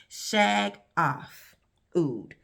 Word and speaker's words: Shaghaf Oud: Y'all know I say it wrong. I say Shaghaf. It's an N in there. I put it there. It's not really there. But I'm going to try to say it right. Shaghaf Oud. This was released in 2016.